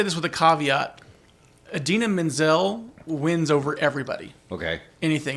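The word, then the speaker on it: Idina Menzel: I'm gonna pull a Travolta and get her name wrong Adina Menzel I said it right yeah versus Alvin and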